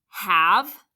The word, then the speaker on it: have: There's a silent E on the end because it can't end with a V, but that vowel is still short.